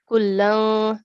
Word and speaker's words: كُلًّا: Wa kullan darabna. Okay, with a vowel sound. we will do a gunna sound, not wow. Kullang, light nasal sound.